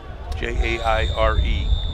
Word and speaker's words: Jair: First name is spelled Jair, not Laurel. Jair Dorsey, Jaire.